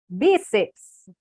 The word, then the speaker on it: bíceps: Essa é a palavra, é a sílaba mais forte, que é bi. Como termina com ps, é acentuado. Bíceps, tríceps, fórceps, quadríceps, tá bom?